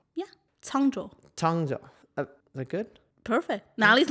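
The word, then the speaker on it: Cangzhou: So eventually, though, they get near Kongzhou and Sagacious leaves them. Kongzhou is the exile destination. Yes. Am I saying it wrong? Yeah. Changzhou.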